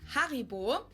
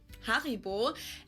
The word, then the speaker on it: Haribo: We pronounce it Haribo. Haribo.